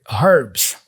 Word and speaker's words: herbs: Notice that he pronounced the word herbs. So he's pronouncing the H here, herbs.